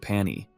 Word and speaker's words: Pani: Jiha, true to his terrible naming habits, calls it Pani, simply because it rhymes with pony.